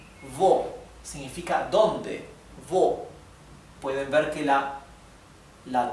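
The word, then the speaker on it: wo: Por ejemplo, la palabra vo. Vo significa dónde, vo. Pueden ver que la la w se pronuncia m.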